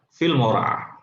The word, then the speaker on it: Filmora: Jangan keliru bacanya Filmora, Bapak Ibu, karena itu dulu saya sering salah. Saya pikir Filmora, ternyata Filmora. Film ora kan gitu ya. Film ora.